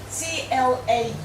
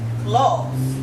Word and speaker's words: Claus: that's clous CLA clous it's pronounced claw okay you say claw